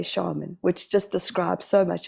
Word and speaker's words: Scharmyn: And as we were connecting before I pushed record, I was asking how to say her surname, which is spelled Scharmyn, and we say shaman, which just describes so much of who you are.